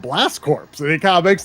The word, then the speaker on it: Corps: And then when he saw how it was spelled, he's like, oh, that's pronounced core. You don't pronounce the PS in that.